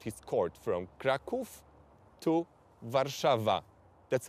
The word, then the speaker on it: Warszawa: he just moved his court from Krakow to warszawa that's how the name is pronounced in in Polish okay okay yes and